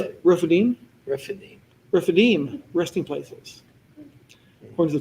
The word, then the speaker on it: Rephidim: Rephidim, Rephidim.